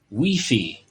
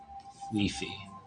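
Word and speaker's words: Wifi: His name at the moment is Weefy. And it's spelt like you would spell out Wi-Fi. Weefy.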